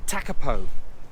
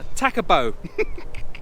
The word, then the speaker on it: Tekapo: But yeah, Tekapo. I said it wrong then. Tekapo.